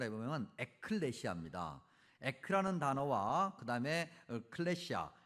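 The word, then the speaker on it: ἐκκλησία: 여러분들에게 수차례 설명드렸습니다 어 교회라는 단어를 굳이 헬라어로 발음을 해보면 에클레시아 에라는 단어와 그다음에 클레시아 즉 칼레라 그는 동사에서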